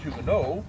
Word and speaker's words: Huguenot: The term Huguenot, it's actually pronounced Huguenot, it's a French word at the end of silence.